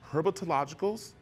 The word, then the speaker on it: Herpetological: And Mike is here with me from the Herpetologicals.